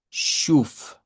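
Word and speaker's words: schuf: Este es el caso de SCH. Eso es lo que está escrito en la ortografía. Entonces, lo que necesitamos nosotros es pronunciar una sh más una u larga. Y esta esta palabra nos quedaría como shuf. Shuf con u. Shuf.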